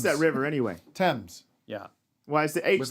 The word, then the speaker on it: Thames: you land on would river how do you pronounce that river anyway thames yeah why is the eights there is a